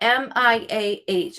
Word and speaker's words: Miah: How do you sound out MIAH? I want to say it right. Mia? Yeah, it's The H is silent.